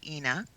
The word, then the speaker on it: Inna: say her name M ina but it's actually inna but what she works with this color and